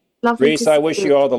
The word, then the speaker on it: Rhys: His Instagram is Reese and that's spelled RH YS Rhys guitar.